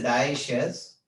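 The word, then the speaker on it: dioecious: better to take divisions the pronunciation is diocese but actual spelling is dio issues diocese right so what are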